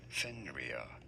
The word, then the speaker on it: Fenrir: go about pronouncing it in british english it is normally said as fenrir fenrir he's normally pronounced as fender okay a little bit